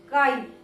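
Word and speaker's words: χ: This is pronounced as chi.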